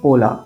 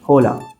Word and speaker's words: hola: The letter H is always silent. For example, the word hola, which means hi or hello, starts with the letter H. However, its correct pronunciation is hola and not hola.